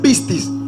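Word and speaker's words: πίστις: te das cuenta que la palabra fe en griego se pronuncia pistis que significa título documento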